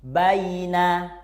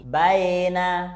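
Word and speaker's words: بين: Baina, saufa. Yang harus kamu ingat, suara ayunannya itu u dan i, bukan o atau e. Baina, saufa.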